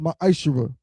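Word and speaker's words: מעשר: Means tenth in Hebrew, and is pronounced ma'ashera.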